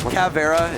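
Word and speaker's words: Caveira: so I can say it's like saying cavi era cuz it's like half of Na says it I just say count I don't even try that kaffarah is actually the proper pronunciation oh no got Vera's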